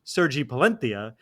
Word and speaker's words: Sergi Palencia: Palencia, who we all call Sergi Palencia, pronounced his name Sergi Palentia, which is a thing we made fun of an announcer for doing a few days ago.